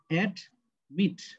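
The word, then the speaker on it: admit: এখানে দুইটা syllable, add, meet, ঠিক আছে, কন্ট্রোল, দুইটা সিলেবাল, তাই তো? যদি সঠিক উচ্চারণ করতে চাই তাহলে আমাদের উচ্চারণ কি অ্যাডমিট, উচ্চারণ হবে কি দেখো মিট। তাহলে আমরা যে প্রথমে যে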